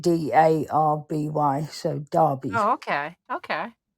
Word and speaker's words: Derby: We say Darby. as it's spelled Derby, but we pronounce it Darby.